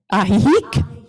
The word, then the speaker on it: Ajijic: Ahihik. Ahihik. It sounds like a hiccup, but the accent is on the third.